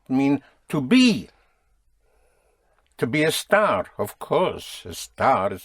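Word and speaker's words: estar: But esta I would pronounce Esther like an esta note. E S T A R. Hm. E S T A R. Oh, that would be a star.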